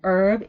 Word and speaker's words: herb: herb in American English because herb in herb the H is not pronounced whereas in British English the a is pronounced so you speak of a herb right because you pronounce that age finally from from this